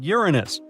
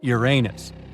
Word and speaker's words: Uranus: Actually, astronomers say we should be pronouncing it like Uranus, not Uranus. I can't say a different stress changes much, though.